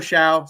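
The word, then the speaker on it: Shough: mispronounce his name uh not really difficult to pronounce but it's just weird spelling obviously uh Tyler Xiao so I have him at number eight and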